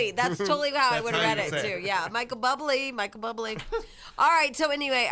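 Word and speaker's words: Bublé: that that guy that's real babe like Robert Buble but he isn't I think wait which he's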